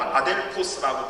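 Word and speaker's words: ἀδελφός: 형제들아 라고 사도 바울이 이렇게 썼는데요, 이 형제들아 라고 하는 헬라어는 아델포스라고 발음하는데, 이것은 원어적으로는 한 자궁에서 나온 이라는 뜻입니다.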